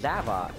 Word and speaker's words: Zavok: So it only took me until this game to find out that it's actually pronounced Zavok.